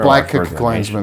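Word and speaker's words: BlacKkKlansman: Black Klansman, that's it. There's 3 Ks. Black, that's the first K. That's the second K. Klansman, that's the third K. That's intentional by Spike Lee.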